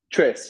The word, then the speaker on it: Tres: Trace. Yes, correct. Trace.